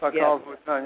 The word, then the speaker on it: Pacal Votan: How do you pronounce Pacal it? Votan. Yes. Pacal Votan.